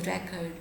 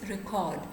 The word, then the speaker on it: record: Like if you take the example of word record, if you are pronouncing it as a noun, it will be pronounced as record. If you are pronouncing it as a verb, it will be pronounced as record. So stress pattern will differ in English if the word category will differ, and of course there